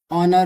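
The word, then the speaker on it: honour: हो गया और क्या हो सकता है बताओ ऑनर होगा ऑनर भी एक होता है ठीक है ऑनर में भी एस साइलेंट होता है ठीक है और क्या हो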